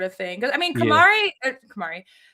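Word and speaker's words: Camara: I always call him Cameron. I forgot how to pronounce his name. Oh, Kamar Tammani Kamar, one of my favorite role players.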